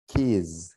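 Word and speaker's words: keys: কিস কিস কিস ওকে এখানে কিন্তু উচ্চারণের ডিফারেন্স আছে কিস ইয়েস স্যার ধরতে পারছি স্যার জেড শেষে কিন্তু জেড হ্যাঁ বাজিং সাউন্ড হবে কিস নট হিসিং সাউন্ড হিস এটা না মিনিং চেঞ্জ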